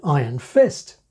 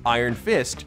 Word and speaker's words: Iron Fist: in a single speaker is this superhero named after a fist that has the literal quality of iron like Black Panther is named after a Panther that's black if so we get iron fist iron fist iron fist iron fist or is it just a suggestive noun in a compound iron fist now there are some